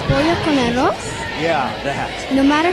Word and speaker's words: Pollo con arroz: Polo con arroz? Pollo con arroz?